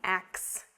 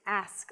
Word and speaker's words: ask: you a question but the pronunciation of ask should not be ax it's ask let me ask you a question i want to ask you something it's not ax it's ask ask yeah this one again